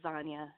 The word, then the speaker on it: Zanya: Real quick, it's Zanya. It's like lasagna.